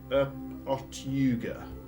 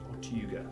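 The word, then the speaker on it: Otyugh: You would probably know it as a, I'm going to try my best to pronounce this, Otyuga. Otyuga, spelled O-T-Y-U-G-H.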